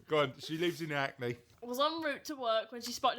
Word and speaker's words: Hackney: Hackney. Why do you pronounce the H on that? Because that's not your typical thing, is it? Is it not acne?